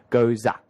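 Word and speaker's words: Gose: He's very familiar with the style, and he said all over the world the correct way to pronounce this beer is goza. Goza. Okay, well, so there's a silent ah.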